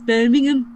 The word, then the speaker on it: Birmingham: said, you don't pronounce the H, so it's Birmingham.